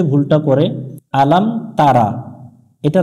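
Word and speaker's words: ألم تر: জবর লাম আলাম আলাম এগুলো হরকত দ্রুত উচ্চারণ করতে হবে টান দিয়ে পড়া যাবে না আলাম তা জবর তা র জবর র তার আলাম তার এখানে অনেক জন্য যে ভুলটা করে আলাম তারা এটা রা পড়া যাবে না র পড়তে হবে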